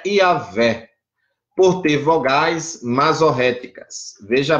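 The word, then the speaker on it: Yahweh: né em hebraico mas como podemos entender a pronúncia é yaveh por ter vogais massoréticas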